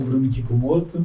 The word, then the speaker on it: Bruno Kikumoto: Bom, eu sou o Bruno Kicumoto, né? Você pronunciou perfeitamente, tá?